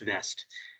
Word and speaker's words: West: there we go and vest will be w-w-e-s-t west but i think it's pronounced vest and um so she